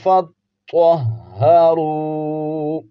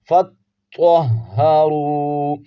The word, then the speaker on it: فَاطَّهَّرُوا: ہیں۔ وَإِن كُنتُمْ جُنُبًا فَاطَّهَّرُوا، فَاطَّهَّرُوا، فا کو تو کے ساتھ ملائیں گے، فا تو زبر فت، فا نہیں فت، جماؤ کے ساتھ تو ہا زبر تو، ہا زبر ہا، فت